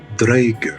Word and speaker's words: draugr: them that big and here comes the draugr or draeger as some would prefer to pronounce it so the word draker